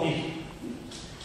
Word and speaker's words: CRISPR: Le dio la pronunciación de estas siglas como CRISPR.